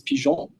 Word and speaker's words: Pigeons: you want to be totally correct you would pronounce this pon um my collaborator Alex is uh from Quebec